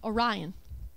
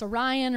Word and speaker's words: Orion: stars of the constellation Orion. I keep saying it wrong. It's Orion or Orion, whatever you want to say.